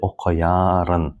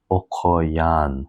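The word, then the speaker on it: okuýan: For example, we don't say okuyarın, we say okuyan. So we do not pronounce these two sounds, re and I, okuyan, and we make a longer.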